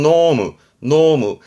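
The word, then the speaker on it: 濃霧: 발음은 노무.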